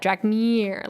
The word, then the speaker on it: Drakmir: You gotta say it like that. Drakmir. Like you're saying, come here.